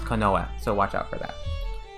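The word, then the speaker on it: 近衛: um watch out for this word this is pronounced konoa it's um refers to uh like a guards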